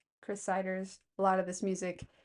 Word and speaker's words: Chris Siders: Chris Ciders is Chris like you would spell it. C H R I S I D E R S. Chris Ciders.